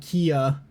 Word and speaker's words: Kia: were calling them Damwon KIA, and I'm just sitting here like, they're sponsored by Kia, right? I'm not crazy. Like, you're just saying the name wrong, right?